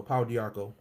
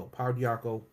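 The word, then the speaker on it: pau d'arco: to this the paradox of course you know paul diarco that's how you spell it p-a-u-d-a-r-c-o power diaco this is what i just was talking about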